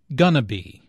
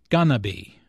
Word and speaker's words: going to be: Notice how this is pronounced like gonna be. Instead of 4 syllables, going to be, there are 3 syllables, gonna be.